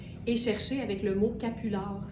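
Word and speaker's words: capulard: chercher avec le mot capular. Ça s'écrit comme ça se prononce, le croisement entre capuchon et foulard.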